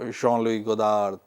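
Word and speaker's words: Jean-Luc Godard: So I practiced you know Jeanlu God you know. So it's Jeanlu you know. So that is a standard pronunciation and even I when I talk to French people they understand this.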